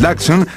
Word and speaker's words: Dachshund: Pero la pronunciación tradicional es Dachshund.